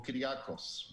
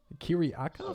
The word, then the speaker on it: Kyriakos: It's actually short for Kyriakos, but I think most people, especially in Malaysia, have a problem pronouncing that. So I've shortened it to Kyri. Kyriakos? So, yeah, the full name is Kyriakos. Yeah, Kyriakos. It's a Greek name.